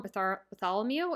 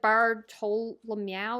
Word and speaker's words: Bartolomeo: can't say his name I'm going to accidentally call him Bartholomew and that's wrong so it's like bartolomeo or something like I I um